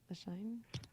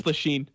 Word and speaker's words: Lashane: Lashine? Here. How do you pronounce that? It's Lasheen. Lashine?